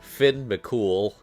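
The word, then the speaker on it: Fionn mac Cumhaill: A lot of people don't know this, but his name is actually pronounced Finn McCool, which is an incredible name.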